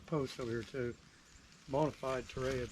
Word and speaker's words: Torreya: over here too Bonafide Terraria trees or Toria as some people do pronounce it Toria yeah I'm sure that's